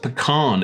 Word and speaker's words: pecan: And finally, we have the pecan, which I found out is pronounced pecan in the USA, like that dude from Star Trek.